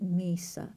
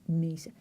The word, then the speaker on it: Mesa: to say it properly not Mesa not missa missa missa that's how the people who speak Spanish say it I think they know so she winds up